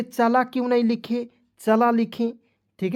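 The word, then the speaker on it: chala: चला क्यों नहीं लिखे चला लिखें ठीक है जी तो यहां पे जरा ध्यान से सुनेंगे दोस्त मान लीजिए मैं लिख रहा हूं सी एच ए एल ए तो इसे पढ़ेंगे चला चला क्यों नहीं पढ़ेंगे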